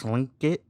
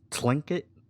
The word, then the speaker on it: Tlingit: Tlingit? Tlingit? It doesn't sound like they're saying lingit. There's like the T before it.